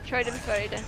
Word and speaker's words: Schadenfreude: I just honestly, I'm kind of enjoying the Schadenfreude, however that's pronounced. I can never remember how. Schadenfreude.